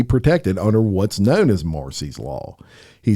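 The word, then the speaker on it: Marsy's: said he wants to use what's known as Marcy's and it's spelled m a RS y apostrophe s Marcy's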